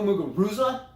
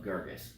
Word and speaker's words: Muguruza: I don't know but I say go muguruza and then now that I know Girgis is actually correct I'm sorry for all these years Julia I will now call you by your connect correct pronunciation of Girgis yes muguruza garvey's let's